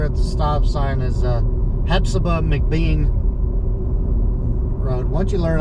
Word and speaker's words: Hephzibah: Pretty sure I say it the right way. That's how they say it around here.